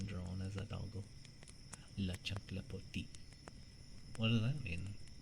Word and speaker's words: chancla: It's like, pronounce it, chancla.